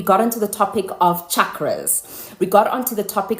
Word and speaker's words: chakras: So, yesterday I was pronouncing it more like chakras, but it's chakras.